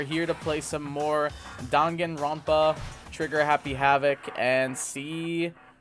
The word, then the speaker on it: Danganronpa: to play some more dagarapa or Danganronpa as I is the correct pronunciation uh yeah we are